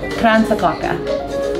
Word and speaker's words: Kransekake: How do you pronounce that? Kransekake.